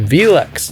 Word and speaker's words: VELUX: Today, our very special guest is Wayne Feltman, and Wayne works for VELUX. Did I pronounce it right?